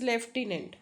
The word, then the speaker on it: lieutenant: Here lieutenant, there is no f sound, but still sound is lieutenant.